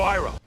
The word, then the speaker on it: Iroh: My name is Iro. General Iroh. Ong. Iro. Sokka? Heck, they even pronounce Avatar wrong in this movie.